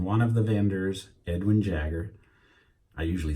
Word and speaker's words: Jagger: of them in one of the vendors edwin jagger i usually said Jaeger but it's Jagger that's the way I've seen everybody pronounce it and Jagger was there actually Gail